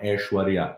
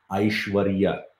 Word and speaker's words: aishwarya: uh saying it right this is not ashwarya this is aishwarya in sanskrit you how to pronounce it aishwarya and this one is